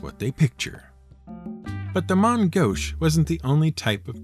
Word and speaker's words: main gauche: seen written down and often mispronounced as main gouch but is more correctly pronounced as mon gosh it's a french phrase and simply means using